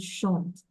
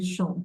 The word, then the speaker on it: chantent: ENT is not sounded. We say ils chantent. Ils chantent.